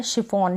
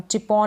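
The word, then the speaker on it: chiffon: फिर आगे क्या है, सी एच को श भी पढ़ते हैं, जैसे कि यहाँ पर है शिफॉन, चिपॉन नहीं बोलेंगे, शिफॉन।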